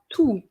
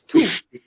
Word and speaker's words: toux: So the word you need to remember is la toux. Okay? Oui, madame. And not toux. It's toux. The X is silent.